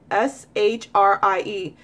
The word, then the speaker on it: Shri: you look into it and you say shri sh rie sri sri sri that that's how you say